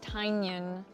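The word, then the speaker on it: Tynion: I've been saying his name wrong. James Tanyion.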